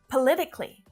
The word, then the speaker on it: politically: But politically has only 4 syllables. It's not politically, just politically. 4 syllables.